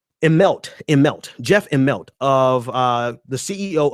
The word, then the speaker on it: Immelt: Washington Post article, Jeff, what is Immelt and Bernie Sanders?